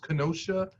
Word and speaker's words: Kenosha: of what's going on and i think it's pronounced kenosha wisconsin um where the uh the gentleman was